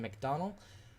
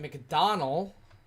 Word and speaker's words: McDonald: Andrew Litman, Ralph Gilbert, Nick Norris, Shawn Purcell, Travis Griffin, Grant McDonald, I I said it wrong, Grant McDonald, like Donald, uh, Michael Barksdale, Christopher